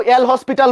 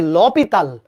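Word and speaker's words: L'Hôpital: এটাকে কেউ কেউ এল হসপিটাল বলে। কেউ কেউ এল হসপিটাল বলে। আর আসল উচ্চারণ হচ্ছে ল পিতাল। ল পিতাল।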